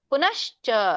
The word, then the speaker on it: ಪುನಶ್ಚ: ಒತ್ತುಕೊಡೋದು ಅಂದ್ರೆ ಪುನ ಪುನಶ್ ಪುನಶ್ಚ ಆಮೇಲೆ ಚ ಬೇರೆನೇ ಹೇಳೋದು ಪುನಶ್ಚ ನೋಡಿ ಈಸಿ ಆಗುತ್ತೆ ಪುನಶ್ಚ ಪುನಶ್ಚ ಹ ಚನೇ ಬೇರೆ ಹೇಳೋದು ಪುನಶ್ ಅಲ್ಲಿ ನ ಕೆ ಶ ಕೂಡಿಸಿಬಿಡೋದು ಪುನಶ್ಚ ಅವಾಗ ನಿಮಗೆ ಒತ್ತು ಸರಿಯಾಗಿ ಉಚ್ಚಾರಣೆ ಆಗುತ್ತೆ ಪುನಶ್ಚ ಭೂಯೋಪಿ ಪುನಚಭೂಯೋಪಿ